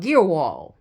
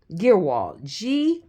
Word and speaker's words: Guerewol: Guerewol. Guerewol.